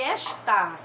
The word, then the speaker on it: esta: aí esta tá e esta gente esta percebam que a sílaba tônica é e está a sílaba tônica é que tá inclusive e acentuada essa